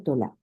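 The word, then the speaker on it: תולעת: Se pronuncia tolá.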